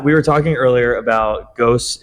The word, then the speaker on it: Gose: were talking earlier about ghost is it Goa or is it ghost uh I mean I've heard it pronounced both ways but goza is what I've yeah good all right